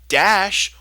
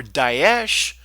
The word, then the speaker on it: Daesh: Daesh or Daesh, pronounced both ways to just constant confusion